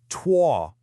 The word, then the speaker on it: 脱: Okay, this first character here is pronounced tuah.